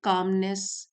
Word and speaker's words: calm: Composer ये एक noun है और इसका मीनिंग है कामनेस या संयम से काम लेना, जल्दी से रिएक्ट ना करना। काम, CALM, एल साइलेंट है, काम, शांति से काम लेना।